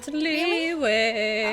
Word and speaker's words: Liyue: Liyue! Didn't you just hear me? Leave Mondstadt and keep looking through the 7 nations until we find clues about her brother. It's pronounced Liyue.